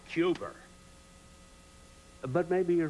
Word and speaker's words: Cuba: I kept telling Jack Kennedy, it's pronounced Cuba, not Cuba.